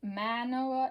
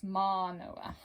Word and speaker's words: Mānoa: This is not an apostrophe, it's in the Hawaiian language. This symbol right here is called an okina, and it's pronounced like a pause. And the line over the A is called a kahako. And so instead of Mānoa, it's Mānoa.